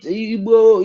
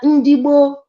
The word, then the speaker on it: Ndigbo: You know, the pronunciation of the white people, when our people talk, they just pronounce it the way they want. They call it Igbo, Indi. Well, we are Ndigboo, we are Hebrews.